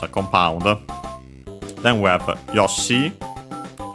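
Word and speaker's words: ヨッシー: Then we have Yosi which is Japanese name. Uh notice only the doubling of the consonant and the longer vowel.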